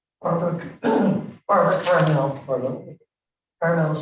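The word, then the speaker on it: Barbara Karmel: Barbara Carmel. Pardon? Carmel is spelled with a K, but nobody does it.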